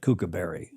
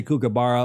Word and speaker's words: kookaburra: And I apologize if I've never said kookaberry. Kookaburra probably. But we'll try to say kookaburra or kookaburra. Burra. It's kind of a cross, but there's midway between a U and an A. Kookaburra.